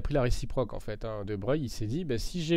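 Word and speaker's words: de Broglie: Passons maintenant à la relation de De Breuil. Alors relation de De Breuil. Alors de Breu en fait ça s'écrit de Brogl mais ça se dit de Breuil.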